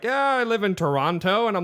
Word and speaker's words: Toronto: it New Orleans but how do you say Toronto Toronto without the the tea but you don't say